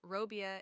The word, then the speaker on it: robię: So, robię is pronounced almost like robi, a soft E at the end.